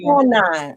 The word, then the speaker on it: quinine: Quanine. Okay, that's how it's pronounced. I think it's quine.